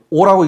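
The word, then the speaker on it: 惡: 여기서 요거는 오라고 읽습니다. 악이라고 읽는 거 아니고, 그러니까 악하다 할 적에는 악이라고 읽고 미워하다라고 할 적에는 오라고 읽습니다.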